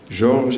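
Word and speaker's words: Georges: name is George Cuvier Jones is the French for George except they put an S at the end or that they don't pronounce and then his name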